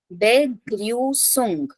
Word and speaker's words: Begrüßung: Yeah, Begrüßung. So if you see here, this beta sign is pronounced as double S.